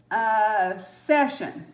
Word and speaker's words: session: The letters S-I-O-N says shun when they follow any consonant except R. For example, session, S-E-S-S-I-O-N.